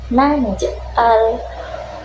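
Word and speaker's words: نجعل: Nah, itu juga sama ya, itu juga dipantulkan karena masih ada tanda sukun di tengahnya. Jadi bacanya naj'al.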